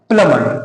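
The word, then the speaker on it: plumber: को बुलाओ है ना प्लंबर नहीं होता देखिए ए के बाद यहां भी बी आ रहा है तो बी तो साइलेंट होगा ही तो क्या हो जाएगा प्लमर क्या होगा प्लमर यहां पे देखिए जी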